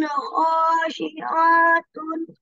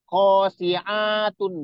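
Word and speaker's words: خَاشِعَةً: Terus, khosyiatin, A-nya itu nggak panjang. Ada sabian nanti bacanya panjang. Jadi nggak boleh panjang. Jadi kho-nya, cuma kho aja yang panjang. Coba diulang lagi. Yauma izin, yauma izin khashi'atun.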